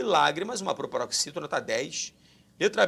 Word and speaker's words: lágrimas: Lágrimas, mais uma vez, preste atenção. A sílaba tônica não é a última, não é a penúltima, é a antepenúltima.